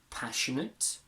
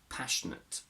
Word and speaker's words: passionate: anyone saying different but personally i don't remove the schwa in family and passionate and whilst i might sometimes remove it from family i would never remove it from passionate but that's my personal